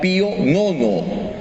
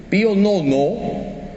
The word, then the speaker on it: Pío Nono: este caso concreto fue el papa Pío Nono por si acaso no son los bizcochos se escribe piu nueve romanos Cómo se dice sí o no no